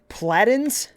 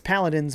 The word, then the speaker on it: Paladins: stream welcome dude says my friends are saying that's pronounced flattens I swear it's paladins but they don't believe me why is another a there if it's platon doesn't make sense paladins